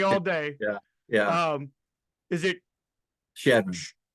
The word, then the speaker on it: Chadron: That pronunciation scares me. It's been scaring me all day. Yeah. Is it Chadron? Chadden.